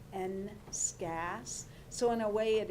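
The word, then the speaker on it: NSCAS: prepare these students for the future this is pronounced n scats so in a way it is like it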